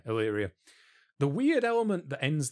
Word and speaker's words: Illyria: king and queen over, is it Illyria? I'm very bad at Greek pronunciations. Illyria, yeah. Yeah, Illyria.